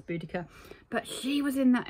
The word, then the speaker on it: Boudicca: um she tells me actually it was Boudicca or bodacia as we were taught growing up apparently now it's pronounce boudica but she was in